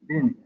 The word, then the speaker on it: Lin: It's definitely Lin. Lin should be fine.